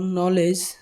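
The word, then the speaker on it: knowledge: শব্দের শুরুতে KN থাকলে তার উচ্চারণ ন হবে। এক্ষেত্রে কে এর উচ্চারণ সাইলেন্ট থাকবে। যেমন নলেজ, নাইট, নি।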